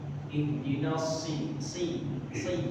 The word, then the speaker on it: اهدنا: Sama tadi sedikit di ihdinas jadi dia nah itu ada pengucapan huruf shad dengan huruf sin. Kalau sin dia biasa s biasa, kalau dia shad dia si ihdinas Menjadi terus kalau bisa dengan kita ulang 3 kali.